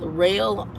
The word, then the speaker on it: Roehl: The other one is That Girl just got through with Rail, and it's spelled ROEHL, Rail.